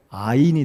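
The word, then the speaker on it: עין: 그래서 오늘은 16번째 히브리어 알파벳 아인이 되겠습니다. 아인. 이 아인이란 말은 동그라미, 아 발음이지 않습니까?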